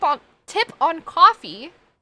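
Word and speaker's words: Ko-fi: K on tip on coffee um I or Kofi I think is how they actually want to pronounce it I just have to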